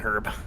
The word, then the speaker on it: herb: Yeah, and her and herb and I herb. need an herb. Or go full on British herb. Herb. Yeah, the H is supposed to be pronounced.